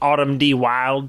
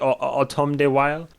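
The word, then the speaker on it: Autumn de Wilde: direct automata why automata wild I believe it's how you say his name or be weird to be like autumn D wild but I believe it's like autumn day while I went on IMDB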